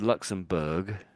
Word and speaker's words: Luxembourg: But we pronounce it as Luxembourg, Berg on the end there, Berg. Yeah, so strange, isn't it? So, but here we say borough, but there it's Berg, and and there's a